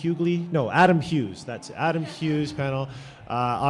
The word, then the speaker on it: Hughes: a little fun with my name there uh Hughes is a uh is a Welsh name and